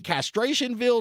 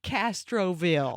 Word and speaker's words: Castroville: you live from the little trailer park in castration ville Texas Castroville oh mispronunciation yes yes and the only thing I